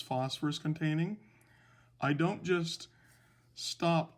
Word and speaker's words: phosphor: root word when it's phosphorus containing i don't just stop there remember the root word for phosphorus containing anions is phosphor it has two syllables so there's the root